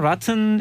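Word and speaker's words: rotten: 그래서 뭐 그 이 원래는 라튼 에그를 던집니다. 그렇죠. 썩은 달걀을 던지고 이제 그렇게 하는 건데. 영국 발음은 라튼이네. 미국 발음은 라튼. 예, 근데 저는 아무것도 안 해요. 원래 제대로 하려면 로튼이라 해야 되죠. 로튼.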